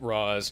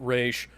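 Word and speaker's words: Ra's: She pronounces it Roz, he pronounces it Raish.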